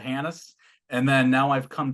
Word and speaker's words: Hanus: I said Hanus, but someone said the H is silent. Well, I spent 9 years in the military, so the H was definitely silent for 9 years.